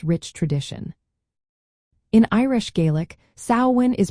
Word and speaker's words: Samhain: In Irish Gaelic, sawin is pronounced as sin. The first syllable sao rhymes with cow. This is the most common pronunciation you will hear in Ireland.